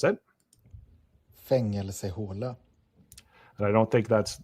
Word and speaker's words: Fängelsehåla: Fängelsehåla. And I don't think that's, let me turn that up. Fängelsehåla. Fängelsehåla.